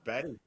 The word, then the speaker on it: Bury: Go close to that weird place that everybody calls Bury, but it's pronounced Berry. But everybody who lives there calls it Bury.